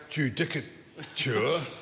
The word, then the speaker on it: judicature: If one Googles the word judicature and pronounces it properly, Judicature.